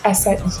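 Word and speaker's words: açaí: Du coup, bon moi j'avais vu de la musique, j'habite et du coup, ça se dit assai assai.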